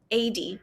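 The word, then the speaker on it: AEYDE: or something like that it's a d That's how you say it 80.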